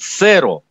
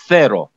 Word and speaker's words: cero: Первая буква произносится межзубным звуком «с». Вообще можно произносить, и если вы этот звук не знаете, можно было бы произносить «сэро», и вас поймут. Но в некоторых случаях это может привести к путанице, поэтому я сразу говорю, произносите это правильно. «Ноль» произносится межзубным звуком «cero».